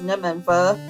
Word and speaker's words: Nimanva: I do believe the correct pronunciation is Nimanva.